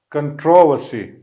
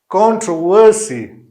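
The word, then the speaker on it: controversy: American English जो है इसको कुछ दूसरी तरह प्रोनाउंस करता है, ब्रिटिश दूसरी तरीके से, बहरहाल दोनों जो है वो सही है।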